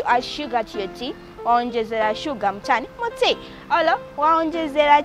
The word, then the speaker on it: onjezera: Then our next word is onjezera. Onjezera. Onjezera is spelled as O N G E Z A.